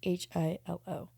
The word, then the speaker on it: Hilo: Just think of Lilo from like Lilo and Stitch, and instead of L, put an H, so it's Hilo.